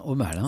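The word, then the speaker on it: Omale: science-fiction laurent genefort auteur notamment de la saga au mal je prononce bien c'est bien au mal et ça bonsoir bonsoir le rang merci d'être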